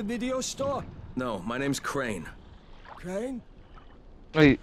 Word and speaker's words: Crane: No, my name's Crane. Crane? Wait. Crane rhymes with train and brain and sane and grain and rain and plane and the other kind of plane and.